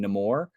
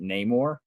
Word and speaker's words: Namor: backstory um he he Tyler mentioned this he pronounces his name nemour um but then everyone else in the movie pronounces it Neymar um so so it's so weird for me